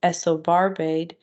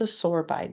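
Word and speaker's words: isosorbide: that we use is Esso barbade um it's so no it's a sorbide it's a sore bite that's how you say it it's a store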